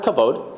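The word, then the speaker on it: כָּבוֹד: So it's pronounced kavod.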